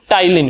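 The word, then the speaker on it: ptyalin: क्या है destroys the टाइलिन पी आएगा पीटी वाई आएगा क्योंकि पी साइलेंट है ना मैंने भी नहीं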